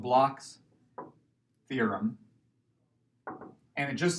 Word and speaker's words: Bloch's: because these German but it is not pronounced bloke which I kind of thought it was for a while but it's called Bloch's theorem and it just